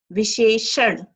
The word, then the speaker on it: विशेषण: विशेषण, न का उच्चारण करना है बच्चों, न का नहीं, ठीक है?